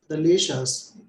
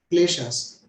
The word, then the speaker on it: kleshas: be fair to Sanskrit, kleshas. In English, most of the times we would keep the K silent, but here let's pronounce it as Sanskrit is kleshas.